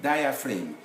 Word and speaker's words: diaphragm: it's the same thing diaphragm g is not there it's not audible benign flame we write